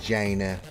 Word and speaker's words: China: for about three minutes it's pronounced jaina where did you get with this other word it's jaina it's just how we say it in the uk all right um okey